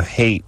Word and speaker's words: Haight: I know Haight Street isn't spelled like hatred, but...